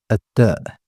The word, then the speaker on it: التاء: It's similar to the T sound in English, as in the word table.